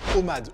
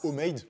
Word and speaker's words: OMAD: OMAD ou OMADE, prononcez-le comme vous voulez.